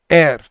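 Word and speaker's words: heir: तो लेकिन यह इसकी प्रोनंसिएशन है एयर।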